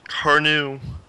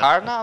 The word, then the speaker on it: Karna: you ever heard of the names Karnu or the Lightbringer? I don't. Karna. I imagine it's pronounced Karna. Yeah, my bad. Karna, like both of them, they look at each other.